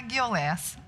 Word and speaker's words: Guiouleas: Então, mas a gente costuma pronunciar Guiolés. Que a origem é grega, né?